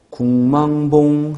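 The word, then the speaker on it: 국망봉: 발음 나는 대로 비음화가 일어나서 궁 하고 발음되는데 표기 그대로 국 하고 표기했으니까 틀렸죠.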